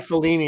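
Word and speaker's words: Filoni: good so that's cool I always think I pronounced that right it's felony isn't it it's felony it's felony say I always say it wrong oh is grogu ever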